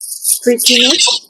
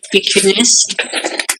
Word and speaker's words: precuneus: Pretinus. Say that again. Pretinus. How do you spell that? Precuneus.